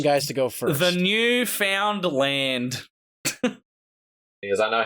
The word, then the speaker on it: Newfoundland: the chat now tell me if you can pronounce how this is said you found a million guys to go for the newfound land is I know how this is actually dance